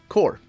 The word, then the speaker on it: X-Corp: X-Corp or X-Corp? X-Corp, right, Melanie? Core. Oh, I said it right?